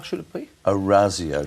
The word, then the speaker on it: Orazio: The Italians would say that you get Fantasia's name wrong. It's a softer Z sound. How should it be? Orazio, not Orazio.